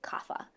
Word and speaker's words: Kapha: In the West, we pronounce it Kapha.